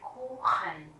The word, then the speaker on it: Kuchen: Der Kuchen, âm U chúng ta đọc dài, và các bạn để ý thấy âm CH ở đây, mình đọc là âm kh. CH sau A, U, U, A, U, tức là âm au, thì chúng ta sẽ đọc là kh.